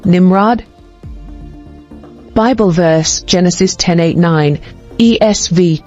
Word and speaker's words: Nimrod: origin Hebrew nimravid meaning Rebel or CH Rebel pronunciation Nimrod Bible verse Genesis 1089 ESV Kush father Nimrod